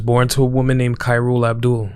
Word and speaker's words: Khairul: She was born to a woman named Khairul Abdul, sometimes pronounced Carol, and a man named Parmjit Singh.